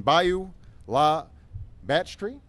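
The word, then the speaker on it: Bayou La Batre: clinic that she has built and rebuilt in Bayou La Batterie. Did I say that right? Well, tell me how to say it. Bayou La Batterie.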